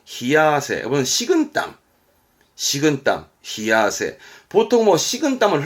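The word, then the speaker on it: 冷や汗: 발음은 아세, 발음은 히야세.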